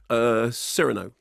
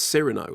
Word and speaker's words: Cyrano: Cyrano.